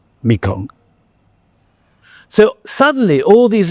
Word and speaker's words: Mekong: And it is called Ma Ganga, or in the Khmer pronunciation, Mekong. Mekong.